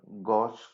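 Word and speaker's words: gauche: stagger and next one is a skew confirmation gosh confirmation it is pronounced as a gosh spelling is g a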